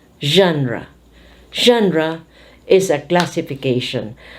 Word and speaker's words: genre: G becomes ZH, and this one, the E becomes A. Genre.